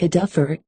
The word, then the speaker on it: adavo: derived from the gypsy adavo, that man, or that fellow there. Adavo is frequently pronounced almost like a duffer, or adava, niggling, which